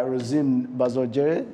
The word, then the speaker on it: Rosine Bazongere: who are joining us we are joined by rosine bazogger is that the right pronunciation of your name actually yes what is